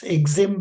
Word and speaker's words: EXIM: Ex Bank provides financial normally normally we pronounce that as XM bank.